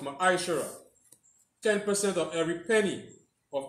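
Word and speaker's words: מעשר: Means 10th in the Hebrew and is pronounced Ma'aishara.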